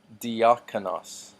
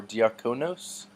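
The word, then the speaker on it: διάκονος: GU nei next diakonos D arcanas notice that this is not diagnosed or d'arco knows that the Omicron makes the short o sound next is a loss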